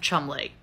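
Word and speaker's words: Cholmondeley: the Martian s of Chumlee yes it's pronounced like that guy from Pawn Stars and not whatever the heck these letters are supposed to mean but we gotta add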